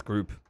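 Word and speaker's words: Grupe: group of rookie Notre Dame how do you pronounce his name Mario I believe it's group it is group okay now he's from Notre Dame and then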